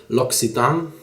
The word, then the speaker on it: L'Occitane: lucid uh and now i know the correct pronunciation it's l'occitane you can get it at any l'occitan shop